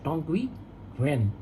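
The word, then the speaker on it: Tongyi Qianwen: Platform launch किया है, टोंगक्वी वेन। Spelling कुछ अलग है, उसका मतलब प्रोनाउंसिएशन कैसे होता है, TONGYIQIANWEN।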